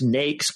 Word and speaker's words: NAICS: this form asks for the naics code and that pronounced nakes colloquially is the North